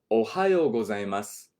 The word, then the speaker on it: おはようございます: There is a su at the end of this word, but we're not really saying the u sound, just the s sound. Okay? Do not say おはようございます. Don't say it like that. Say it like this. おはようございます. Just leave it on the S.